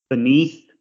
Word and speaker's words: B3NTH: The brand is Beneath, but it's spelled like B3NTH or something.